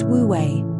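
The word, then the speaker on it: wu wei: The ancient taroist principle of wooi offers a radical alternative to the culture of endless effort. pronounced wouei. Wui is often translated as non-action, but this can be misleading.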